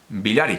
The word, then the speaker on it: Biglieri: 2018 el billar vilar que se escribe biglieri cae un poco lógica biglieri pero si no recuerdo mal se pronuncia billar y que eso es se pronuncia al billar y que en 2018